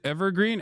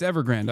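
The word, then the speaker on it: Evergrande: No, it's Ever Grand. I said it right. It's not Evergreen.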